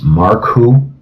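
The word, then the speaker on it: Marcou: pronounce the last name right i can certainly spell it it's mark who it's m-a-r-c-o-u and dan wrote a book i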